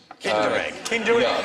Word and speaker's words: Kinder: extra point for that actually rhymes with tinder egg kinder yeah with the secret